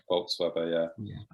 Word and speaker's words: Bolz-Weber: Revolution by, let's get the name right, Nadia Bolz-Weber. Is that how you pronounce it, James? Yeah, Bolz-Weber, yeah.